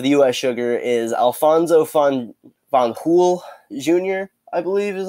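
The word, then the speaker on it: Fanjul: US sugar is Alphonso fun von pool junior I believe is how you pronounce it if the if it if the J is like pronounced like an H right but so Alphonso Alfie jr.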